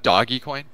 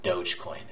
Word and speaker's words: Dogecoin: Do you have Doggy Coin? No. It's pronounced Dogecoin.